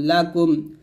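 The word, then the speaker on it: لَكُمْ: তারপর লাম জবর লাহ কাফ মিম পেশ কুম লাকুম দালিয়া জের দিনুন পেশ নু দিনু কাফ মিম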